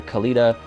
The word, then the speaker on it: Khalida: conversation in the comments, the reason why Khalida is being called Khalida is because that's what she calls herself. And, yeah, that determines how things are pronounced.